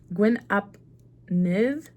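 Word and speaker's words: Gwyn ap Nudd: Gwyn Ap Nuth pronunciation. Look at, we're learning today. Rosetta Stone, here I come. Gwyn Ap Nith. Gwyn Ap Nith. Gwyn Ap Nith. They're saying it with an accent.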